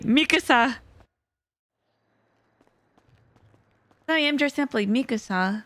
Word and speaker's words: Mikasa: Mikasa there we go I said it right Mikasa I am just simply Mikasa foreign thank you